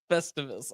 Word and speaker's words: Festivus: Festivus. All right. It's almost like festival, but you say us at the end. Festivus.